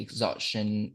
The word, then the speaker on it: exhaustion: Okay, exhaustion and fatigue. So let's see how it is pronounced.